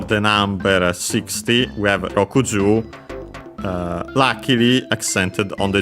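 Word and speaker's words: 六: First and foremost, we have of course uh Roku 60 from Roku six Je uh Roku should be accented on the last syllable, but of course we'll check again.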